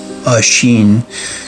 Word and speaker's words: Oisin: So the tale of Oisin or Oisin, the Old Irish pronounced Oisin, was the son of Fionn McGowan and Sub, the daughter of Bodurg.